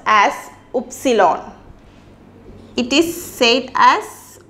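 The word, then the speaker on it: Ypsilon: we are moving to Y and Y is pronounced as epsilon it is safe as epsilon and for example Hyuk Hyuk V is pronounced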